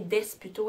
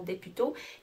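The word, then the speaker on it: Desputeaux: Et puis c'est écrit par Hélène Desputo, et ça se prononce bien Desputo et non Desputo, qui est l'auteur de Caillou.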